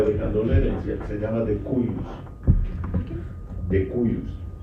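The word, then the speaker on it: de cujus: Él, en este caso, el difunto, o el que está dejando la herencia, se llama decuyus. Decuyus. Se escribe decubus en latín, decuyus.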